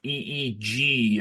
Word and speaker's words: Feig: He had it on the Twitter or X as a capital Feeg is the correct pronunciation.